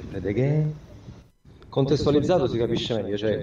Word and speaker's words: Fred again: È così, Fred Again, però non troppo lungo, no, Fred Again, sennò sarebbero tre puntini, invece Fred Again.